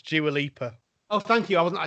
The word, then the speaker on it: Dua Lipa: By the way, it's Dua Lipa. Oh, thank you. I wasn't sure how to pronounce it.